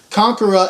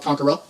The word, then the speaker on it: Konkhra: by Kagura the message is a Christian message Conqueror is a satanic heavy metal band but yet